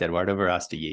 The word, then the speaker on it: Eduardo Verástegui: played by the well-known Mexican actor and producer Eduardo Verástegui. Is that the correct pronunciation? That's correct, Eduardo Verástegui.